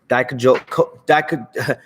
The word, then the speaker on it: Dijakovic: I always say his name wrong. Dijakovic. There we go. Yeah, Keith Lee versus Dominic Dijakovic. I'm trying to say his name right, people. Dominic Dijakovic. There we go. Keith Lee versus Dominic Dijakovic. I keep thinking the K is a J.